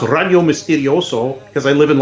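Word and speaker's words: Radio Misterioso: is is is pronounced already Ole Miss video so because I live in Los Angeles and everything here is Spanish ra di Oh Mis te RI OS oh it spelled like the Spanish way miss miss you do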